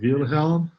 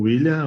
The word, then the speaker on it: Wilhelm: pronuncia? Wilhelm, ou William, ou Will, como você escolher e se sentir mais confortável a Joia.